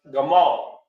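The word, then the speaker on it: gimel: tent pronounced by y g means camel and it's pronounced Gamal that's actually what stood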